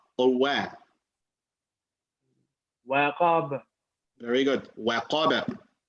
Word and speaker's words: وقب: You cannot say al-falaq, khalaq, waqab, waqab. That's another way. I mean, that's another way that, of course, we should avoid, right? Waqab, fil uqad, hasad. This all not the right way to say it. The proper way of saying it, al-falaq, khalaqa, waqaba, al-uqad, hasada.